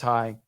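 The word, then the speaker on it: Hanh: not maybe hi hi it was spelled h-a-n-h but it's pronounced hi which is vietnamese and anyway i kind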